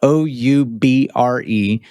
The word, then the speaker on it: Oubre: Hal Elrod: And you got to spell it though because it’s not spelled the way it sounds. The R is silent. Dr. Oubre: Not at all. Yeah, it’s South Louisiana nonsense. So, it’s O-U-B-R-E Medical.